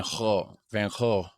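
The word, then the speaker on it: Van Gogh: mention van go or uh how do you pronounce it van vanho something like that its vibrant Traditions like King's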